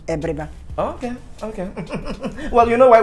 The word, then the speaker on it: Abiriba: I'd spell it as A, but pronunciation is E, Abiriba.